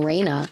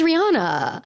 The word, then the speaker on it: Rihanna: Is it Rihanna? I've been saying Raina. Oh my God. Is this how I find out I'm a little dyslexic? Anyway, her name is Rihanna.